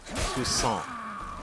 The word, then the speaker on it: Toussaint: Okay, so it is Toussaint, like French. The last T is silent.